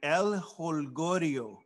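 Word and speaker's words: El Jolgorio: I'm not even going to try to pronounce it tonight. I'll help you, my man. El Holgorio.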